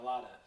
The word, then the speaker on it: Mailata: Mailata.